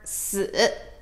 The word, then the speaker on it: 死: Now, 4 in Chinese, we pronounce it as 四, 四, 四. It sounds really, really similar to the word 死, 死.